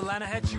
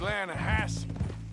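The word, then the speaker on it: Lannahechee: the other day i rode down to the lana hetchy river i caught some beautiful steelhead trout you mean atlanta hassie river no no no no no the the lana hatchy it runs right near here yeah but it's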